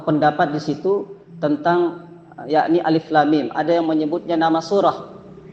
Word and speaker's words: Alif Lam Mim: Bapak Ibu huruf muqatah Jadi huruf yang dibaca per huruf kita tidak boleh membacanya Alama tidak boleh karena ini huruf per huruf alif lam mim ulama ada dua dua